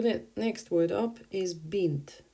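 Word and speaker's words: бинт: next word up is bent bent sounds like an arabic word for a girl paint bin too but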